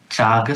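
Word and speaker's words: cāga: And today we are going to pick up the third accomplishment which is called chaga sada. How do you pronounce that? Chaga c long a gaga sada.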